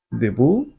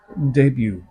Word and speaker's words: debut: na siyang sabihing free gift Ganon din ang pagbigkas sa salitang ito Deb yun ang alam mo when it should be pronounced as debut first come first serve that should be first